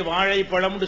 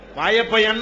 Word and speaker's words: வாழைப்பழம்: நீங்க பார்க்கிறீங்க உதாரணமா வந்து மெட்ராஸ்ல போய் வாழைப்பழம் என்று சொல்ல சொல்லுங்க பார்ப்போம் வாயைப்பயன் தான் சொல்லுவான் அவன் வாழைப்பழம்னு சொல்ல சொன்னா அந்த சிறப்பு லகரம் அவனுக்கு வருமான்னா வராது அவனுக்கு அந்த மொழியை வெறுக்கிறதோ சொல்லக்கூடாதுங்கிறதோ